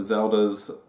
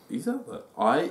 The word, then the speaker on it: Iselda: We may also find out Zelda's... What's her real name? Iselda. Iselda.